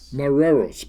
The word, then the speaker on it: Morelos: This is a tenor ukulele that was made by Peter Morelos. Did I pronounce that right, Sean? Moreros.